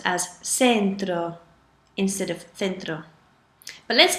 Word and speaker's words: centro: a sentence you pronounce it as for example c-e-n-t-r-o is spelled sorry it's pronounced fintro Centro but if